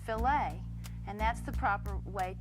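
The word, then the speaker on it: filet: It's pronounced filt.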